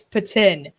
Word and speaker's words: poutine: It's patin. Patin. No, it's not. No, I refuse to accept that. No. It's When poutine. you speak French, it's pronounced patin in French, therefore it's patin.